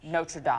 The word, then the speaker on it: Notre Dame: And Notre Dame may be okay for the Fighting Irish, but the French church that partially burned down is pronounced Notre Dame.